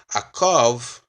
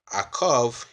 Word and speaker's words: Akof: or by the foot so a curve a curve is the correct pronunciation or the correct spelling of Jacob so thanks again for